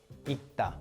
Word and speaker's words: 읽다: But you don't read both final consonants when they're like this. So you read it like 읽다, 읽다. So in this case, the third consonant, 리을, is not pronounced.